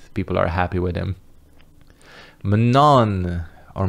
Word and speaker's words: Manon: Manon, or Manon, if you want the proper pronunciation.